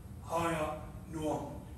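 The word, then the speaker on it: Ahinoam: His first wife's name was Hiya Noam in the Hebrew. I'll spell it A-H-I-N-O-A-M.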